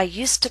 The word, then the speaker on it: used to: When it's followed by a consonant sound, we do not pronounce used to with a full vowel sound. To becomes t. I used to practice regularly. I didn't used to complain so much.